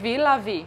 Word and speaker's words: Villa Vie: Villa Vie.